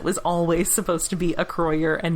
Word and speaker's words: Acroyear: toy commercials, it was always supposed to be a croyer and not acroyear as it clearly is spelled.